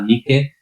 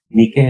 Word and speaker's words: Nike: Eso significa Nikao, que viene de la palabra Nike. Nike es la palabra que vemos en algunos zapatos, que aquí la pronunciamos como Nike, que en Estados Unidos se pronuncia Nike, etcétera, etcétera.